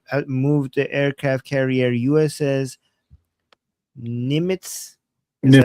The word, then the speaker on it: Nimitz: military has moved the aircraft carrier USS Nimitz. Is that how you pronounce it?